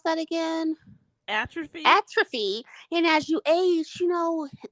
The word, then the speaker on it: atrophy: ATR at trophy at how you pronounce that atopy atrophy thank you atrophy I I'm scarred so